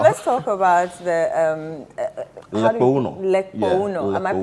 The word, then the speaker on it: Lekpongunor: Lekpongunor. Yeah, Am I Lekpongunor, pronouncing it yes, correct? Lekpongunor, Okay. yes. Lekpongunor.